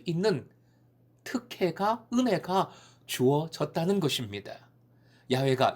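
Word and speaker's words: Yahweh: 3상 에 집중되어 등장합니다 여호와 이것은 영어식 반이고 실제 시도에 음 까 에 가까운 발음은 야외 야외 있어요 야외 야외 는 매우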